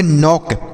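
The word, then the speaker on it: knock: एन ओ सी के देखिए यहां पर के और एन एक साथ है तो इसे नहीं पढ़ेंगे के को नहीं पढ़ेंगे तो इसे हम पढ़ेंगे नौक के एन ओ सी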